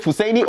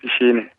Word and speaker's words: Fushaini: Now, I hear some of you pronounce this name Fusaini and others pronounce it Fushaini. Which one is yours? Is it Fusaini or Fushaini? It's Fushaini. The local name is Fushaini.